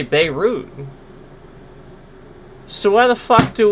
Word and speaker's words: Beirut: No, we say Beirut.